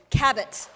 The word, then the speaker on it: Cabot: give you a hint her last name rhymes with habit as in her books can be habit forming ladies and gentlemen miss meg cabot thank you so much